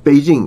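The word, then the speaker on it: Beijing: 중국에 있는 지명 같은 것도 북경이라고 하고 지금도 북경이라고 많이 하던데 그건 한국식 발음이거든. 북경이라는 건 북경 남경 뭐 응?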